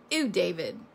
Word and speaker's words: Ew David: But if you watch the show, the way you pronounce this is Ew David. So it's really EW, but Ew David.